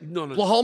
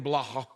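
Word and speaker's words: Belal: saying the same thing blal Muhammad you were saying blah BL isn't it BL no it's B B I feel like we're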